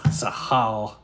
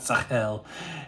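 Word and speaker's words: שכל: Sahal. That was a terrible pronunciation. That's an A-L. Sahal. So you should say it, not Sahel.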